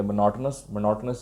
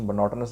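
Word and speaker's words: monotonous: The performance was very dull and मोनोटोनस. इसकी pronunciation मोनोटोनस है, मोनोटोनस मत बोल देना.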